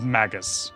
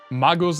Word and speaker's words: Magus: sounds kind of weird Magos is what I used to say, which is like more of a German or like actual Latin pronunciation, I guess. So, it's magus.